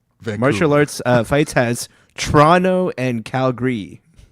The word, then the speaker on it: Toronto: martial arts uh fights has Toronto and Calgary. Okay. So, is it like cuz I I guess like the like no one says the second T in Toronto. Toronto.